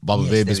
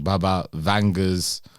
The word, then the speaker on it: Baba Vanga: Okay, what are Baba Vega's most famous predictions? Many of Baba Vega's, I think we even saying her name wrong. Baba Vanga's followers my bad.